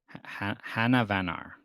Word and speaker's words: Hanavanar: It's King Hanavanar. Hanavanar. Okay, that is how they say it in the audiobook.